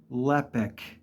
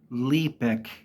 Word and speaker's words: Lepic: constantly throughout the game it is pronounced lepic not leic pronounced lepic very simple even for the uneducated it's lepic moving on I've never heard